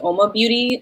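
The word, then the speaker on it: UOMA Beauty: I love um Ma I think it's pronounced om Beauty it's u m a i just love their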